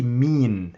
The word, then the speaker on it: مين: But in Egyptian we say mean instead of men, mean, okay. This is just the alternative in the pronunciation, mean, okay, mean. Men, okay, men in modern standard Arabic, mean in Egyptian dialect.